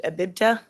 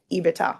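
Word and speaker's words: EBITDA: and I forgive me how do we say This Acronym abta that's not how you say it e iita all right iita I'll work on that that's another thing that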